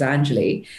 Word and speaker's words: Anjali: i introduced myself by my real name which is angeli that people wouldn't remember or wouldn't be able to pronounce it but now if somebody can't pronounce it it's like you know what it's three syllables if you can't pronounce three syllables i'm not the problem